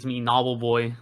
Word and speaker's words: Knobbelboy: Yeah, I mean honestly, it's me, Knobbelboy. Like people don't say the K, but in official terms, you should pronounce it. But I've stopped pronouncing it myself as well.